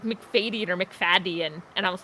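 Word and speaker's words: Macfadyen: i have discovered that i've been pronouncing the man who played mr jars in the 2005 prime prejudice last name wrong for years i just said like mcfadden like that it's mcfadyen oh whoops or mcfaddy it's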